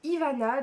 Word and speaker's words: Ivana: Mon prénom, mon vrai prénom de tous les jours c'est Ivana, donc ça s'écrit comme ça se prononce, I-V-A-N-A.